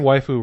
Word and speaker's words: waifu: Well, The term waifu refers to an anime girl whom a fan has taken a specific liking to. Well. Waifu stems from the English word wife, but is given a Japanese pronunciation.